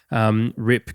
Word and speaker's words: Ripke: If we remember Paul, Rip, I think is how you pronounce his last name, RIPKE.